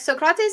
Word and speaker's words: Socrates: comrade is entirely correct socrates is actually how you would pronounce it in the homeric or attic dialect at least as far